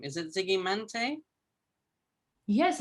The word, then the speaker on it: Žygimantė: How do I pronounce your name? Is it Zygimantė? Yes, it's actually Zygimantė, yeah, but you can call me if it's easier for you.